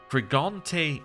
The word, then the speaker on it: Frigante: We have Frigante Castle, as we heard it pronounced last time. You do actually pronounce the E at the end of this one, apparently.